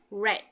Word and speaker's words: read: Okay, but read you would pronounce as read.